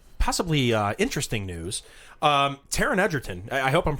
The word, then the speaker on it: Taron Egerton: this one up to like possibly interesting news Taron Egerton I hope I'm pronouncing his yeah that's right Taron Egerton he's in talks to star in a new